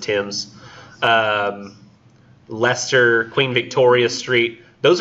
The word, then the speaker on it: Thames: notice like it says sweet Tim's our Thames the omentum rebus pronounced Tim's Leicester Queen Victoria Street